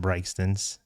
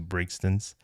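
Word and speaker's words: Brigtsen's: And it's a restaurant called Brygstons, and it is pronounced Brygstons as opposed to Brigstons.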